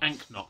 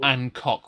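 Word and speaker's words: anCnoc: Which is spelt differently to how it's said as well. Anknock, yes. Not Ancock, which is what I used to get really bad wrong.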